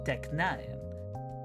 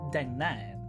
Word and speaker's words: deknaen: was fully pronounced as deknaen. However, the K has begun to be softened, and merging with the N now is pronounced like an N sound, as in the NG